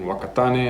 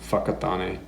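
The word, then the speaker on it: Whakatāne: This is in Wakatane. I've been there, weirdly. I think it's pronounced Fakatane.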